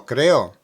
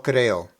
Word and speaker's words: creó: Lo creó.